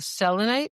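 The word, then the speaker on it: selenite: recently, we talked about Selonite. And I love Selonite because it's actually pronouncing my name right, like selonite because it doesn't have that extra e in it.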